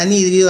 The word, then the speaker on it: anhídrido: atención a la palabra anhídrido acento en la y nh y anhídrido y como el siete